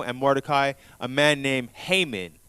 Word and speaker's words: Haman: But also there's an enemy to Israel and Mordecai, a man named Haman, also called Ahman, or some people pronounce it as Ahman, Ahman in other translations such as throughout the Apocrypha.